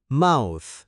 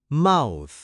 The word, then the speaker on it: mouth: ๆ แล้ว พ่น ลม ออก มา นะ ครับ Mouth ครู เควิน จะ ออก เสียง ให้ ฟัง นะ ครับ Mouth และ อีก ครั้ง ครับ Mouth คำ สุด ท้าย